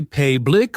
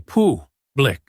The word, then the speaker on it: public: So, we don't say payick or p uh blick. We say pu blick.